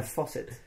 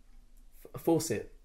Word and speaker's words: faucet: my embarrassing friend a faucet faucet not forced today i teach you about one of my favorite word pronunciation in the world faucet i think it's faucet faucet faucet yeah farcid force it not force it that's like you're forcing it fasted so thoughts on